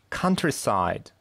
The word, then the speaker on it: countryside: Countryside. Первый слог под ударением.